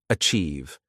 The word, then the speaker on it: achieve: The pronunciation is a TSI, I've. Say it with me. Achieve. The ch sound is soft, like in chair, and the I've sounds the same as in believe.